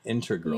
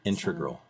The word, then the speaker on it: integral: the show I said it right integral and Inter glue you put an extra are integral integral integral integral part of the show it's